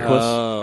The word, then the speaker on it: Equus: Equus? Equus, yeah. EQ, Oh, so it's like the UUS. Eagle that makes that new What? Jaguar. Right? EQ UUS.